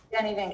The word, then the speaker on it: Danie van: Do I pronounce that correct? Danny Ven.